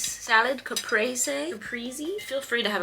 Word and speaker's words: caprese: I made a lovely little Caprice salad. Caprese. Capriy. Feel free to have a field day correcting how I pronounce things in the comments down below.